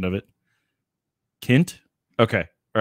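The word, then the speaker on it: Kindt: hear this but i'm trying to hear a pronunciation of it kent okay all right so matt kent that's that's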